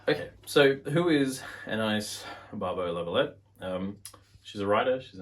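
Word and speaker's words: Anaïs Barbeau-Lavalette: Suzanne by Anais Barbeau-Lavalette. I've just butchered that, I'm sure. Absolutely. How would you say it? Anais Barbeau-Lavalette.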